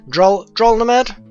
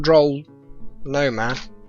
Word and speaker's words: Drolnamed: Pronunciation Drolnamed? It's not Droll Nomad.